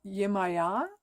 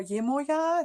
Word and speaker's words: Yemaya: image online Yamana or Yemaya this or Yemaya so it's it has different kinds of pronunciation depending on yeah the background the cultural background so african-caribbean Centuria goddess